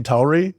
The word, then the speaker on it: Tauri: Names and ways we pronounce them. I say Tauri, you say Tauri.